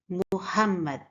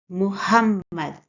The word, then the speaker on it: Muhammad: Muhammad is a three-syllable word. The first sound is mo. We stress the second syllable, hum, and in the end, mad.